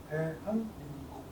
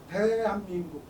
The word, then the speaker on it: 대한민국: мы произносим это слово, мы делаем акцент именно на первом слоге «Т». 여기에서 이렇게 한번 바뀌는 겁니다. 소리가 달라졌죠. 네, 소리에 따라서 글씨의 크기가 달라집니다. 그 다음 단계를 보면요. 저기서 또 이렇게 바뀝니다. 대한민국.